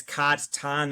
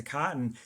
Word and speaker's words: cotton: doing harm by being it's cotton ton we have to turn it into cotton And then what I realized later was actually that's exactly what I need kids to learn.